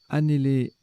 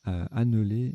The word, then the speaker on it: annéler: Annéler, respirer péniblement, le participe passé est invariable. Alors je les ai mal prononcés tout à l'heure, j'ai dit anneler et aléner, c'est l'inverse, c'est annéler et alener, même alner.